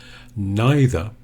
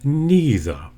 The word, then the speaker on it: neither: shown in the phonetics neither or number two neither if I say neither the E is quite long don't shorten it neither I would call both of these really standard Southern British pronunciation there is an American